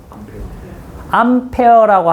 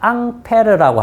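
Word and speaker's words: Ampère: 암페어라고 합니까? 앙페르라고 합니까? 암페어입니다. 그죠? 이거의 진짜 사람 이름은 앙페르.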